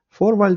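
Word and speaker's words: Vorwahl: перший пункт це forwi пам'ятайте фу читається на початку слова в більшості випадків як F forва фваль - це в нас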